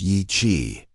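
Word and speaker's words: Yi Qi: Yi-Qi, pronounced Yi-Qi, meaning strange wing in Mandarin, wasn't just another feathered dinosaur from the Jurassic.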